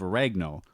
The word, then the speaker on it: oregano: And a half teaspoon of oregano. Oregano. 1, 2, 3, 4 syllables.